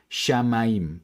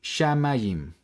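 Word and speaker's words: שמים: diría Entonces sha ma y finalmente tenemos la letra yud junto con este punto que representa una vocal I finalmente la mem sofit mim así podemos leer shamaim shamaim este pequeño ejercicio también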